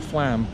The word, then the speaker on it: Flaam: Flaam or Flaam? Flaam. Flaam. Yeah. I like to pronounce these things properly.